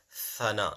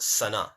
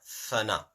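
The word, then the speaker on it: ثناء: Now look, it's called Thana, not Sana. Thana.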